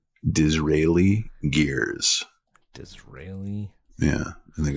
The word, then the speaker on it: Disraeli Gears: It's like Israel.